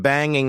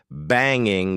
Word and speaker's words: banging: to be extra informal, instead of saying banging with the ing sound at the end, I said banging, banging, and sometimes we do this for emphasis. It also sometimes happens when we talk quickly.